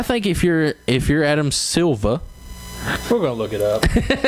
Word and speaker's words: Adam Silver: so it's it's sorry it's not Adam suva it's adam silver i guess i just